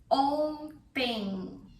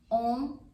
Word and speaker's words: ontem: Ontem. Ontem. It's very nasal. Tem. Ontem. Ontem. Ontem eu comi pizza. E você? Ontem eu comi pizza. E você? Ontem eu comi pizza.